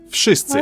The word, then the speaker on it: wszyscy: This letter here is a clear vowel in Polish and makes the sound I, like in the word system.